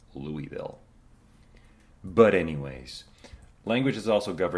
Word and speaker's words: Louisville: If you ever happen to find yourself in Louisville, Kentucky, and you pronounce it Louisville, you can definitely let some of the locals